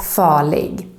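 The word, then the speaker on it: farlig: we don't pronounce it same thing if the r is followed by an el for example in the word falling dangerous also here the r is totally silent but even if you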